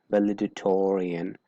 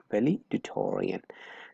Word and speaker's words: valedictorian: next valedictorian right so let me clarify that this c here is silent okay it's valedictorian not dictorian is valedictorian so if you are